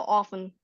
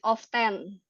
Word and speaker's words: often: its middle English right so apparently the te is silence so often. So the is not ya the is not really pronounc ya. So often be careful if you pronounce it of 10 ya 10 bukan tapi of oke the